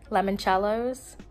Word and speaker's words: limoncellos: her sister I got some like mini lemon limoncellos is how you say it limoncellos yeah oh